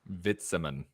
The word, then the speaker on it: Witzemann: the same thing um my last name would be vitaman vitsaman yeah yeah exactly okay cool word but